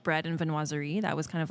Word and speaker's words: Viennoiserie: Viennoiserie.